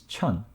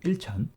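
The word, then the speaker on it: 천: 1000 to ten thousand one thousand is chun instead of ilchan same as before so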